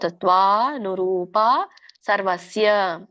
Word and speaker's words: ಸತ್ವಾನುರೂಪಾ ಸರ್ವಸ್ಯ: ಇಲ್ಲಿ ಸತ್ವಾನುರೂಪ ಅಲ್ಲ, ಸತ್ವಾ ದೀರ್ಘ ಇದೆ ತಾಕೆ. ಸೊ ಸತ್ವಾನುರೂಪ ಸರ್ವಸ್ಯ ಶ್ರದ್ಧಾ ಭವತಿ ಭಾರತ ಶ್ರದ್ಧಾಮಯೋಯಂ.